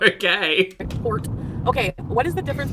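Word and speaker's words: torte: A tort, from German, tort, pronunciation, tort, okay, in turn from Latin via Italy,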